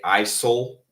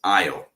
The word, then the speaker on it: aisle: Many people pronounce the s. They say aisle, right, or something like that, but that's incorrect. The pronunciation of this word is aisle.